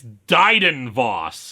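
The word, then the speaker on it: Dryden Voss: Anyway, the yacht arrives according to this caption, I've gotten his name wrong the whole time. It's Dyden Voss.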